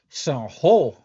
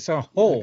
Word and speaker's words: San Jose: San Ho. You know how they get down. That's how they say it. That's how they say it. Sound whole.